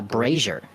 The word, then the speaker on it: Brazier: it's it's pronounced uh Brazier like Frasier oh thank you appreciate